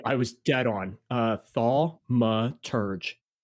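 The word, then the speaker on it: Thaumaturge: I'll tell you a little bit about this game while you look up the pronunciation. Um, yeah. Yeah. Thalma. Yeah, I was dead on. Uh, Thalma Turge. All right. Thmaurge.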